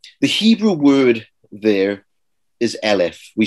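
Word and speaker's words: אֶלֶף: Now, the Hebrew word there is Elif. We spell it in English E-L-E-F.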